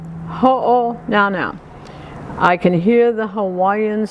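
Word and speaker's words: Hōnaunau: And then on the third line, it's the beach at Ho'o Now Now. Think of uh-oh now now, Ho'o Now Now.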